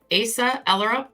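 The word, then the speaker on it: Asa Ellerup: his two children that's ASA erup I believe is how her name was is her name is Asa erup I believe is how her name is pronounced and it's actually been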